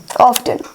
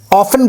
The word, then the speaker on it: often: सो ये stomach has been getting upset, और बहुत ज्यादा यानी often. टू ऑफ्टन नहीं, स्पेलिंग है वो ऑफ्टन, ऑफन कहते हैं उसे बस।